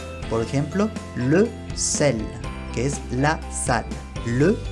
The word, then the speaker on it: sel: Si es la primera letra, se pronuncia como S, igual que en español. S. Por ejemplo, le sel, que es la sal.